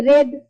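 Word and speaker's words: read: आई के साथ भी तो हो गया रेड, स्पेलिंग सेम जाएगा, लेकिन रीड को पढ़ेंगे रेड।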